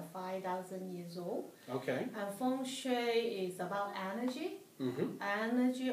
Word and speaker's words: Feng Shui: And you are a Feng Shui practitioner. Did I pronounce that correctly?